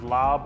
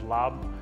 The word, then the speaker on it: laab: you'll see it pronounces lob or larb but we pronounce it as lob it's a minced meat